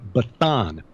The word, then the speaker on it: Bashan: Bashan, people who've followed the teachings of Dr. Michael Heiser know that in Ugaritic, which is a Semitic language similar to Hebrew, the pronunciation would have been Bathan.